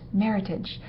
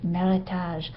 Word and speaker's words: Meritage: And yes, it is pronounced Meritage, not the more sophisticated but completely wrong version Meritage.